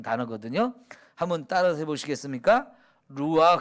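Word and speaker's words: רוח: 거든요 한번 따라서 보시겠습니까 루와 그 그냥 흐 하지 말고 아 이렇게 가래침 했듯이 하는 그런 단어 그렇게 발음을 해야 되는 거야 한번 해보실까요 루와 가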